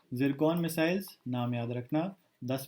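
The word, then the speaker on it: Tsirkon: ठीक है, 10 मिसाइल्स हैं अराउंड, और इनका नाम है सिरकॉन। ठीक है, इसको वैसे प्रोनाउंस जिरकॉन करते हैं। ठीक है, द टी is silence and एस is pronounced as जी।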